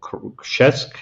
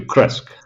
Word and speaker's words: Krzesk: Yes, it's a little village in the eastern part of Poland, which is called Krzesk in Polish. Krzesk. Okay, But, and it's the way that's hard to pronounce, so I will accept you, Kresk.